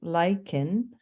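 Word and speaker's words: lichens: to reveal bare rock lyans pronounced lyen a union of fungi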